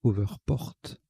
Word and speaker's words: hoverport: p o rt alors je rectifie la prononciation c'est over porte on prononce al anglaise donc au vert porte